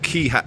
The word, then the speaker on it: Quay: So we're here at Key House, Quay. How would the Americans pronounce that?